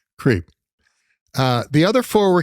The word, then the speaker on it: CRP: of the president whose initials spell the word creep so it's CRP but it's pronounced creep uh the other four